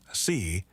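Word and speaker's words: 四: In Mandarin Chinese, the word for 4, si, is nearly identical in pronunciation to the word for death.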